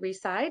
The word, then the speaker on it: Reside: we have today whose last name happens to rhyme with seaside we just learned it's doug reside and miriam will introduce